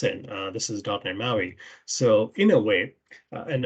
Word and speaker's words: MAUI: than empower right so it's it's maui like like island in in hawaii so uh this has